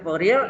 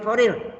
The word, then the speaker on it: Fourier: Transformasi Fourier, Fourier transform. Ya. Itu orang Prancis ya, Fourier. Jadi transformasi Fourier. Kita bacanya Fourier, mungkin bahasa Inggrisnya Fourier. Suara hidung ya, sengau.